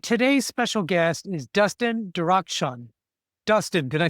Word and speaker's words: Darakhshan: I'm and today's special guest is Dustin Dakshun.